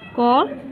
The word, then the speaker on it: corps: देखते हैं कॉर्प्स और कॉर्प्स, ये दोनों वर्ड इनकी साउंड तो समान है, लेकिन इनकी मीनिंग और स्पेलिंग अलग अलग है। पहला वर्ड क्या है CORPS, कॉर्प्स, इसको हम कोर बोलते हैं, इसकी मीन्स क्या होता है सेना की टुकड़ी।